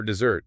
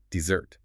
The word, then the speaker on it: dessert: Okay, for dessert, the sweet course after a meal, the stress is firmly on the second syllable. Dessert.